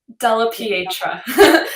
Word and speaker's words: Della Pietra: the correct way to say your last name Della Pietra it's a change okay perfect and welcome back